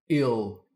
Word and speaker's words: ele: so he is ill the word he gives a lot of problems for Learners people expect that it's pronounced no it's pronounced ill but the word she